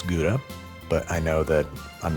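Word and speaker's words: Gruyère: I have here some kha which is how you're actually supposed to pronounce gura but I know that I'm never going to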